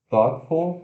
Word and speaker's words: thoughtful: Se escreve Thoughtful. Nossa senhora, que palavrão, né? Então, como se fosse Togitful, alguma coisa assim. Mas se pronuncia assim, ó, sílaba tônica, apóstrofo indicando que é sílaba tônica, e. Epa, aí vem TH desvozeado, O, T, Tó, Tó, né? Isso aqui, ó, Tó, significa pensamento, né? Thought. E F sua L, full, full, esse full aqui.